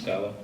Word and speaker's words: Scala: Scala, did I pronounce it correctly? Ms. Scala, yes.